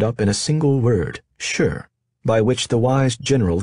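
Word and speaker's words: 勢: all ambiguous and imprecise sure pronounced like the affirmative sure has no formulaic translation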